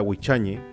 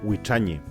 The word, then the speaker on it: Huichañe: Soy músico de una banda llamada Huichañe, que en mapudungún significa levántate. Los peñi y lamien de otros sectores del Gualmapu también lo pronuncian como Huichañe.